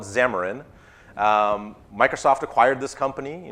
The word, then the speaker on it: Xamarin: xamarin so I think some pronounced Cameron or Chema in i'll call it xamarin microsoft acquired this company